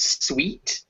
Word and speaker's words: suite: death so that uh that first word was sweet sweet yes ah a sweet room another suit yeah it looks like suit but it has it's uh it's spelled almost the same as suit but suit doesn't have an e at the end i see so would that be at the end to become sweet see like sweet sweet